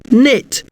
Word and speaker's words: knit: The K is silent, but this K N letter string is quite common.